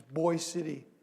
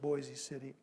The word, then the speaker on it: Boise City: a telegraph this is boys city oklahoma they pronounce it boys city it looks like boise city and they sent a